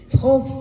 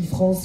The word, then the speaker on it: Frantz: On peut observer que c'est l'inverse parce que quand on écrit France fan on met TZ et on prononce pas en Martinique le Z tandis que quand on écrit Franz Kafka onécrit pas de th mais on le prononce.